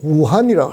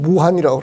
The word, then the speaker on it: 우한: 중국 발음은 우한이라고 합니다. 우리말로는 무한이라고 그러는데 무한에서 나왔어요.